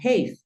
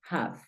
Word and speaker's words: have: la sonaría a y esta palabra no suena ha esta palabra suena have pilas te la estoy